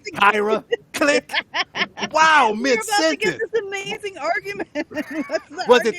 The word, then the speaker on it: Kira: The man wanted to pronounce it properly. Right. Call me Kyra.